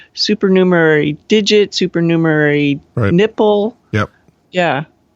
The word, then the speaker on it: supernumerary: of teeth there are super numery fingers the other yeah you have six instead of five but it has more more one more syllable than i thought supernumerary digit supernumerary nipple yep